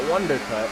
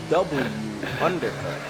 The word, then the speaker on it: W Undercut: It's supposed to be pronounced W Undercut, which in F1 terms would make perfect sense. But when you just put it all together like that, everybody's just gonna call him Wondercut or Wonder Bread.